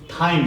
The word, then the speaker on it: thyme: अरु के लेखौँ म थाइम लेखौँ न राइम सँगै थाइम TYME THYME H is silent then H को कुरा